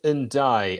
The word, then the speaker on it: Ndiaye: going to look at illiman and i and uh that is apparently how you pronounce it so who is he